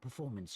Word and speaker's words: performance: Yeah, that P with a schwah at the beginning. Performance with that long O in the middle. Performance and ending with awah.